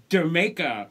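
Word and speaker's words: D'yer Mak'er: And it is pronounced Jamaica, just like Jamaica.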